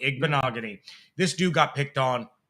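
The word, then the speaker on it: Igbinoghene: if we didn't uh Noah igbanogony okay rhymes with mahogany ignogony this dude got picked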